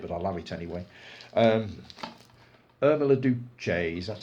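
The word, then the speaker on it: Irma la Douce: Irma Duce, that's how it's pronounced.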